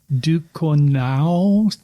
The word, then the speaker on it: Ducournau: Julia Ducournau, something like that. That did not sound French at all. No, it's Ducournau.